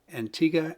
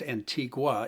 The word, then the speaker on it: Antigua: But when you look at it, it looks like it's Antigua. It's spelled that way.